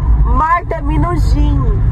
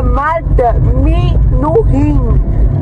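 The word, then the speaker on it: Marta Minujín: Porque eu perguntei, Marta Minujin. E Minujin é o jeito que se escreve. O jeito que se pronuncia é Marta Minujin.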